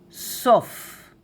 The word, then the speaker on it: סוף: In Hebrew, sof. Short and nice. Sof. Sof. And plural, sofim. Sofim. Sofim. Sof, sofim.